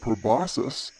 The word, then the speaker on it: proboscis: the snoot is called proboscis and the word rhymes with Colossus which means really really